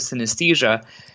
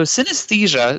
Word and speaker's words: synesthesia: sthesia go ah so synesthesia not an easy term to spell or pronounce uh essentially is made up of the roots sin and aesthesia so sin means together while esthesia means sensation so it's kind of